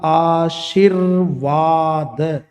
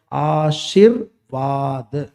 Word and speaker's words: आशीर्वाद: ये जो लग रहा है ना र, इसके बारे में आप गौर से ध्यान देना है, जिस वर्ड के ऊपर लगा होता है उसके पहले इसका उच्चारण होता है। कैसे होगा देखो, आ शिर, ये 3 पे अपन बोलेंगे, र को 4 पे बोलेंगे, वा को 5 पे बोलेंगे, द को। तो इसका उच्चारण कैसे होगा, आशीर्वाद, आशीर्वाद, ऐसे आशीर्वाद, है ना।